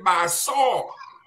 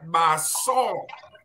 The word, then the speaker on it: Basaw: we call B-A-S-A, the Basaw. You got to pronounce it the right way. Saw, S-A-W, just like the way you saw some in the past tense of C. So we want to add Basaw.